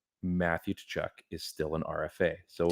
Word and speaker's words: Tkachuk: Is it a silent K or is it a silent T? I think it's a silent T. Okay, so Matthew Tkachuk. Yeah. That does sound better.